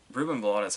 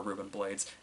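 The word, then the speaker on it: Rubén Blades: him and then um reuben vladis has a really good role here or or ruben blades it it is to my understanding he will take either pronunciation of that um but um the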